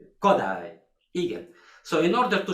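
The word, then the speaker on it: Kodály: More attention to the so-called Hungarian language, because in Hungarian language always the first syllabus is strong. It's Bartok, Kodai, Igen.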